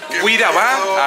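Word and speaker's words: Kuira ba: Cuiraba, así se pronuncia aquí, bienvenidos.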